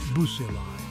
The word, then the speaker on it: bacilli: Next, we have the rod-shaped bacilli, pronounced bucilli.